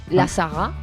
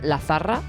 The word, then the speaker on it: La Zarra: llama La Saga, en español La Zarra. La zarra. Pero, la Zarra, pero se pronuncia La Saga.